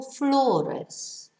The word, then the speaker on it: flores: Because flores, no, it ends in an S, so it's stressed on the last but one syllable, flores.